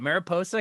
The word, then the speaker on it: Mariposa: born in Mar how do you say it Mariposa California that's right California not far from you